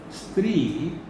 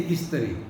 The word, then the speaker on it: Stree: If you are from UP, you will say Istri.